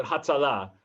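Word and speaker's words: הצלה: I thought you put the emphasis on the final syllable. Yes, you would. So Hatzalah.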